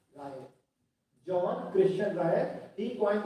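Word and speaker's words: Reil: See, Ryle लिखा हुआ है, लेकिन जो उनके कंट्री में प्रोनाउंसिएशन था Ryle.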